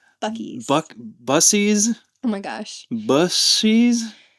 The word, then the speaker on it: Buc-ee's: It's Buc-ee's.